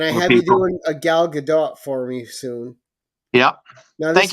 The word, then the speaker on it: Gal Gadot: subject right and I have you doing a Gal Gadot for me soon yeah thank you for pronouncing her name right that's great and this